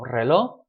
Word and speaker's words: reloj: We don't so much pronounce that J. I mean, you can try to pronounce it and say reloj. Fine, go for it. Notice that when you make these sorts of words plural, relojes, of course, when it's plural, you'll pronounce it.